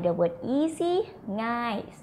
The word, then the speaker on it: ง่าย: Okay, like the word easy, ngai, spelling with ngo ngu, and then sala a, and then yo yak, ngai, easy.